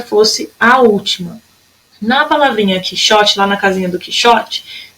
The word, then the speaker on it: Quixote: Quixote. Quixote, a sílaba mais forte, era a penúltima.